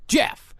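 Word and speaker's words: Gef: So by 1932, the entity proclaimed that he preferred to be called Jeff, spelled with a G and one F.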